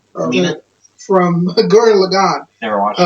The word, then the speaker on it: Kamina: Kamina? Kamina.